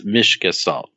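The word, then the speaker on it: Mißgestalt: It's actually, the Germans do it as it's like an S sound. So it's Miβgestalt.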